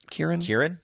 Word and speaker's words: Kirin: Am I pronouncing that right? Kirin?